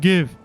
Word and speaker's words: GIF: And then I was in my head, I'm just like, but you would pronounce it kind of like the peanut butter, no?